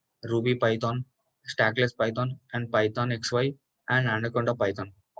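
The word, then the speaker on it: Python(x,y): next one is pythox this is pronounced as python xy and written has python of x comma y this is the python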